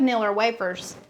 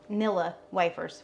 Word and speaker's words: Nilla Wafers: Now, instead of Niller Wafers, Nilla Wafers. We call them Niller Wa- We add an R to something. I mean, That's just how we say it around here.